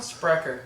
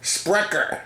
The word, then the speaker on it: Sprecher: How do we pronounce this, Kyle? Sprecher. Sprecher.